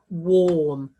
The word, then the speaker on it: warm: nice and warm warm can you hear how that or sound would trick us into spelling warm w-o-r-m but if we did that would say worm we wouldn't want that my feet are nice and worm no so we want that a r for a grapheme to make that o sound for warm these it looks like